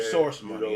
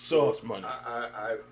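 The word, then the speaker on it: Sauce Money: I was saying that dude's name wrong for years. I was calling him Source Money. It's Source Money.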